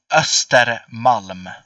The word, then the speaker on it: Östermalm: Though it is like you see the O to the left that has 2 points on it. That's pronounced as Oh, Ostermalm. Yeah, sort of. It's like Östermalm.